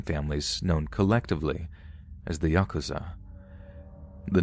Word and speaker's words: Yakuza: are fairly complex but the worst possible three cards to draw are eight nine and three pronounce Yakuza in Japanese the implication being that